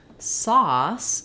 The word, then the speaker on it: sauce: ores across the words sauce is the ah vowel um so it would look like this saw um so you can think about like I saw the sauce and again I'm going to write two s's there because if I just wrote saws that would be a z sound um and then hear